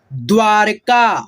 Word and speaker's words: द्वारका: प्रत्येक, मुश्किल, वल्लभ, दिग्गज, निर्माण, म से पहले आधा र का उच्चारण, फ्लेवर, मुस्कान, वास्तव, द्वारका, हलंत लगा है द पे तो वह के साथ मिला करके पढ़िएगा, द्वारका, निश्चय, फैक्टर, मैक्सिको, मैक्सिको, ठीक है, व्यापार, धनेश्वर, निश्चित, बंदर, यूट्यूब।